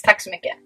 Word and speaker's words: tack så mycket: And thank you is tack så mycket. Tack så mycket. Tack så mycket. Tack så mycket.